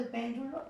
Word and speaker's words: péndulo: En el caso de péndulo, igual, ¿no? Es más, yo no debía haberlo hecho, pero había ya colocado la tilde sobre la sílaba pen en la palabra péndulo.